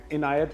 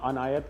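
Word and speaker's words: عنایت: अच्छा कहते हैं, जी और पता नहीं अजीब उल्टे सीधे वो इनायत को मैंने सुना अनायत कह देते हैं।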